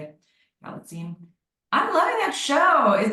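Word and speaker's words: Galitzine: Galstein.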